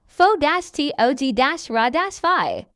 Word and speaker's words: photography: While the root word photograph stresses the first syllable, adding the Y shifts the stress to the second syllable. Fo-tog-ra-fi.